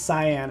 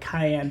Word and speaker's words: cyan: having some fun uh cayenne cyan i might be saying it wrong and i've only been doing this for 25 years so i've probably been pronouncing it wrong for 25 years uh cyan i think it's cyan it's not like cayenne pepper i apologize i have